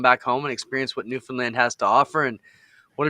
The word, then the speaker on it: Newfoundland: you got screened it's newfoundland they said think of the word understand and how you pronounce that but then think of new fun because it's all fun land newfoundland and it's it's little